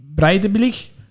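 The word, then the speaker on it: Breiðablik: We'll start with Aberdeen, who are going to be taking on Breidablik.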